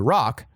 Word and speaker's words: Roch: It rhymes with rock. I hate cult leaders. All they do is talk about their cocks. But when Giselle got upset that Roch had twisted her words